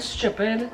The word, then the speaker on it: stupid: Like we turn the T into a CH.